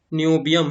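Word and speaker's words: niobium: है, ये ध्यान से, सॉरी नेम थोड़ा देख लीजिए आप लोग प्रोनाउंस करने में, ठीक है, नियोबियम है, ठीक है, नियोबियम क्रिस्टलाइजेस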